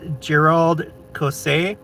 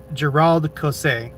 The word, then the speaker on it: Gérald Caussé: Um, Cameron Nielson says, "Gerald Cos." Uh, for you non-French speakers out there, emphasize second syllable for each name. Gerald Cos. Gerald Cos.